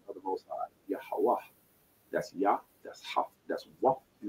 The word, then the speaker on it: Yahweh: you'll see it says Yehovah. It's going to say Yehovah. But that's called Yiddish. That's modern day Turkey and Eastern European dialects mixed in with the continents of Paleo Hebrew. Yahweh is the pronunciation.